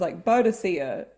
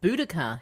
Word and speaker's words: Boudica: Actually, I think it's pronounced Boudica historically, but in Xena, it's Boudica. It kind of depends who you ask, because I think the Latin official is Boudica.